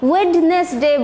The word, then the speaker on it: Wednesday: ওয়েডনেসডে এটা খেয়াল রাখবে ডি সব সময় সাইলেন্ট থাকবে উচ্চারণের সময় ডি লিখতে হবে লেখার সময় কিন্তু ডি সাইলেন্ট থাকবে মানে লেখা এটা উচ্চারণ করা যাবে না ডিটা ওয়েডনেসডে বলা যাবে না আবারও বারবার বলছি ওয়েডনেসডে বলতে হবে এখানে WEN ধরবে ওয়েডনেসডে ঠিক আছে এন্ড কি থার্সডেটা